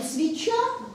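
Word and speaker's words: свећа: Вот «свеча» по-сербски произносится как «свеча». То есть там вот это «ч» очень мягкое.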